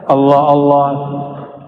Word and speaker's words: Allah: sudah bacanya Allah ya Allah itu bukan dia lam ketemu lam Allah harus disambung bukan mati Allah secara huruf alif lam